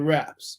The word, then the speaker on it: wrap: So when I have W-R-A-P, that's wrap, where's the silent letter? The W.